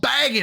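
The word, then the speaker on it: Bagent: was like oh and I'm going to say his name wrong I'm a chicagoan and this is the proper way to say it uh he was talking about Tyson baggot little bagot out there you get rid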